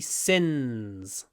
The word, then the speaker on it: sin: this is quite fun he's a sinner on he's a singer on P this is a good way to practice the sound you you should be able to differentiate at L sin and singer sin tip of the tongue